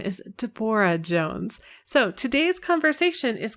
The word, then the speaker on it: Debora: Her name is Debora, not Deborah.